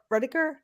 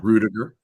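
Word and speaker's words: Ruettiger: say his last name rediker no rudiger rudiger what an amazing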